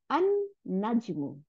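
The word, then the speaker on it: النجم: আল, তারপরে নুন আসতে, তাহলে এই লামটা গিয়ে নুনের সাথে মিলে গিয়ে নুন দুইটা বানাই দিল, তাহলে আন নাজমু, তারাটি।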